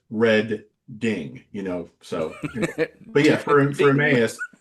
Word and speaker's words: Reading: So like for Reading, it says Red Ding, So, but yeah, for